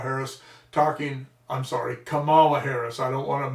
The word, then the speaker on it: Kamala: doesn't have a problem and they're still talking camilla harris talking i'm sorry kamala harris i don't want to mispronounce it because my one of my daughter's